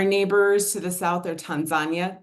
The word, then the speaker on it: Tanzania: Our neighbors to the south are Tanzania. That's how we pronounce it in this part of the world, not Tanzania, it's Tanzania, Uganda, Sudan, Ethiopia, and Somalia.